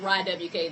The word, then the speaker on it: RAIIWK: the same, RAIIWK, and it's pronounced RAIWK. That's him and me put together.